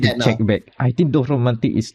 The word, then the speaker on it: Dorfromantik: Is that how pronounced again? Dorfromantik? Yep. Dorfromantik. Yeah, Dorfromantik.